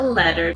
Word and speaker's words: letter: another very well-known difference the pronunciation of the letter T between bowel sounds the English people say it the way you would expect but the Americans say it more like duh listen again to how